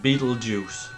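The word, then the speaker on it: Betelgeuse: the band they are I think you pronounce it uh as um in English Beetle Juice so it's the second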